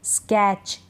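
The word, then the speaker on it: sketch: तो इन सारे स्पेलिंग्स में टी के बाद सी एच है। टी को हम नहीं पढ़ रहे हैं, टी का उच्चारण नहीं होता, ये आपको ध्यान रखना है।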